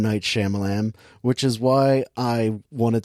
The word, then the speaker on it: Shyamalan: at it right now I've been saying his name wrong this entire time it's Shyamalan Shyamalan Shyamalan this is saying it